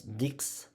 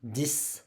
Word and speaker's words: dix: We'll not pronounce dix. We will pronounce 10.